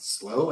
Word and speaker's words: SLO: I'm actually speaking at SLO, that's how you pronounce it.